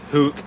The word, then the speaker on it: Hoek: Hook. It will be mentioned from this point onwards. So Hoek Retro is Hook.